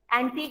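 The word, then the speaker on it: antique: में सी is silent, एंटीक में यू is silent, काम में एल साइलेंट,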